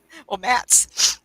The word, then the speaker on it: Matz: I love it uh-huh people ask me how to pronounce my last name m-a-t-z I said you ever heard of a floor mat now think of plural that's it well Matt's uh yeah anyway I'm